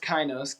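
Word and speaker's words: kainos: funny is this design it's pronounced kinos k-a-i-n-o-s it's a Greek word and it has to do with it means New Life in Greek for fresh breath that's what the word kinos means and so the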